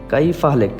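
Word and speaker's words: كيف حالك: বলবো যে কাইফা কাইফা কাইফা হালেক কেউ বলে কাইফা হালক বা কেউ কাইফা হালক বা কাইফা হালেক তো আমরা একটু উচ্চারণটা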